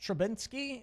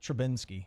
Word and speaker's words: Trubisky: Let's draft this guy in the first round, Mitch Trubisky. Trubisky. And we're going to bench Trubisky. No, Trubisky. I like the end, though. Trubisky. I like Trubinsky.